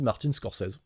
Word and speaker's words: Scorsese: C'est vrai que moi j'ai toujours dit Martin Scorsais. Voilà. Mais c'est parce qu'on est francophone, ça, tu vois. Donc euh des fois, bah le e euh on le prononce pas.